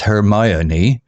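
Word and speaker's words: Hermione: filled with exotic books her name pronounced hermion was also a puzzle to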